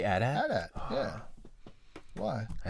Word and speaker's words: AT-AT: How do you pronounce that? AT-AT. You say AT-AT?